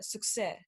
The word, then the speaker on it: Succès: Well, there's like an accent to it, but yeah, it's like succès. So Success. it's succès.